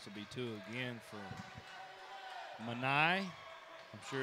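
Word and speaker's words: Mani: This will be two again for Manai. I'm sure it's how you say his name. Donk. M-A-N-I. Manai.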